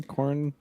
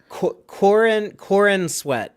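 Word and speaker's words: Corenswet: Cornswet. Cornswet. I don't want to get it wrong. Corn sweat. Corn sweat. It sounds like corn sweat, because it does, which is why I was trying not to corn say it.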